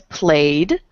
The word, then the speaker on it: played: the next one is played it has a y which is voiced so the ending is a d the third one is